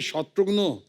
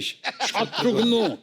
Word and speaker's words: शत्रुघ्न: से शुरू होती है भिन्न-भिन्न प्रांत के लोग आज तक मेरा नाम किस तरह भिन्न-भिन्न तरीके से उच्चारण करते हैं। मिसाल के तौर पे मेरे बंगाली फ्रेंड अभी तो मुझे कहते हैं कि अरे शत्रुग्नो कैमोनाशी शत्रुग्नो डॉक्टर नो का भाई बना दिया है।